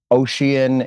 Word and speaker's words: Oshian: guitarist, and songwriter for Oshian. Is that how you pronounce that? Oshian? Yeah, you got it. You got it the first time. That would be correct, man.